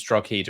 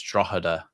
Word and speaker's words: Drogheda: Do you know, Jer said, I thought it was Drogheda as well. Jer corrected me on that. It's apparently it's Drogheda. Like, the G is silent because it's, Gaelic.